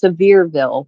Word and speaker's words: Sevierville: It's actually pronounced Sevierville. We found out from the locals.